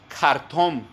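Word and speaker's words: חרטום: Mago se traduce como Hartom. Es difícil pronunciar en su original hebreo, hermanos. Empieza con K, Hartom. Como cartón, pero es con J. JK, Hartom.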